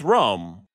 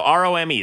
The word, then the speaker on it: Rome: It's Rome. I thought it was Roma. Oh. How do you pronounce it? It's just spelled like Rome, like the city.